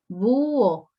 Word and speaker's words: búho: acá tenemos dos sílabas búho y en este caso en búho existe lo que llamamos el hiato porque la h intermedio como la h es muda entonces la pronunciación no afecta a la unión o sea esa h